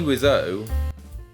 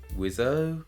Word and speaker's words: Wiseau: back in time again Thomas P wizzo why though wizzo oh even he doesn't know how to pronounce it I am Tommy what's up and I am tommywasso for your information whatever anyway Tommy Rizzo was